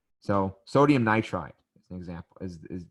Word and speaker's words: nitride: see um close sodium so not nitroid so um for for some of these elements it's weird because you're not you're getting rid of a little bit more than the first than the last syllable but it would be sodium nitride and oh why are you getting rid of more than one syllable honestly the reason why is because it sounds better so nitroid doesn't sound as flowy as nitride same with oxygen technically